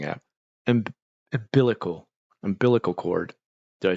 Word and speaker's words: umbilical: right I'm mispronouncing it umbilical umbilical chord did I say it right I I always said unbiblical like as if it's like Bible based umbilical chord okay two